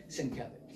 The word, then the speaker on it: Sienkiewicz: People say, "I have a question," and invariably my first response would be Sienkiewicz, and they go, "How did you know?" But I would point to the pronunciation, and they'd look at it and go